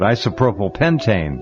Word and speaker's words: isopropylpentane: It sounds like isopropyl alcohol, but isopropylpentane.